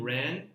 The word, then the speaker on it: wren: And often what happens is we rhyme wren with pan. So that's often just the way it happens with the various. I think it's actually it's an old pronunciation, as in like an old English pronunciation of wren.